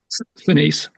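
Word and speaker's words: Sinise: Seness, remind me how to say his name. Senise.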